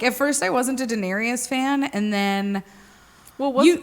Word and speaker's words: Daenerys: Yeah, Daenerys Targaryen.